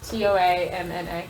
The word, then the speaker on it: Toamna: toy it's the one that I can never pronounce t o a m n a toamna yeah toamna what is she the Agriculture